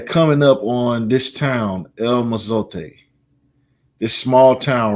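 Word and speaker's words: El Mozote: No one has returned to El Mazote. That's how you pronounce it.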